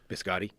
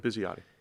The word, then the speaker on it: Bisciotti: Biscotti? Biscotti. I think, is that it? No. Biscotti. That's my parents. Taylor Biscotti. That's not the same. What's his name? Bisciotti. I believe is how you pronounce it.